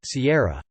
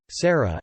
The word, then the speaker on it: Sierra: An example using wrong names is my daughter's name is Sierra, but my mom says Sarah every single time.